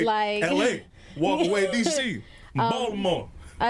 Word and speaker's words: Baltimore: See how I said it? That's not how you say That's it. not how you say. Please say it right, because KJ will correct me. I say it wrong. I do Baltimore. No, that's not. Baltimore. It's, She say the T.